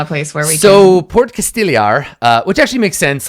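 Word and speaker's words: Port Castigliar: us pronunciation guides for things Porticus it's actually pronounced port Casteel er is it is a port in name only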